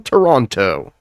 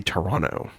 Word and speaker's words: Toronto: I'm from Toronto. That's how you know somebody's not from Toronto. If they say Toronto, you say Toronto. Toronto. Toronto. You don't pronounce the last T.